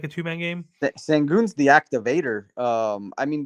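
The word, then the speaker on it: Şengün: um alprin is how you say his name sangoon baby yes sir I think he's gonna activate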